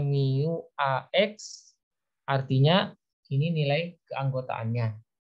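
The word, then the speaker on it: μ: X dengan syarat new ini dibacanya Miu AX artinya ini nilai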